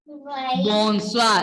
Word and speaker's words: bonsoir: Bonsoir. Like this. BONSOIR. Underline OI and write UA. Then you will understand. You will get when you practice OI, when you have letter pronunciation will be UA.